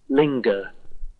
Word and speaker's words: linger: it strongest strongest strongest we can hear the G linger linger did you hear a g linger willingness willingness willingness so no